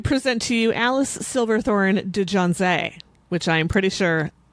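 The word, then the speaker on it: de Janzé: So for today's Rich Women of Crime, I present to you Alice Silverthorne de Jonze, which I am pretty sure I am not pronouncing correctly. De Jonze? It's Dejanze accent aigu.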